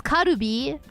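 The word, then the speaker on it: カルビ: And if you just pronounce it as karubi, then it's Japanese. Karubi.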